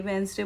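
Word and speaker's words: Wednesday: अभी डेमो ले विशु, संडे की spelling SUNDY, Monday MONDY, ट्यूसडे TUESDY, वेडनेसडे, मैंने सुना है वेडनेसडे करके कराई है, वेंसडे बोलते हैं, I know, but let's see.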